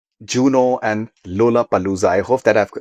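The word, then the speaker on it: Lollapalooza: U Juno and Lola Palooa. I hope that I've pronounced that that that right. Is it Lola Palooa? Lola Palooa.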